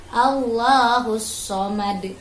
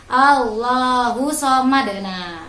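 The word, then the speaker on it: اللَّهُ الصَّمَدُ: kecil allohu selamat nah biasanya anak-anak bacanya gini nih allohu so madena ini di sini ada takdir Jadi dibacanya Allahu Somad lam yalid walam yulad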